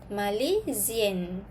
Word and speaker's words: Malaisienne: Tapi kalau untuk perempuan, spelling dia kena tambah N satu lagi, lepas tu letak I pula. Okay, pronunciation dia pun akan berubah. Okay, kita sebut je suis Malaisienne.